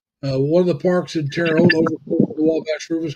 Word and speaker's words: Terre Haute: That's the way the French pronounced it. They say Terre Haute. They don't say Haute Terre. They say it backwards compared to the English.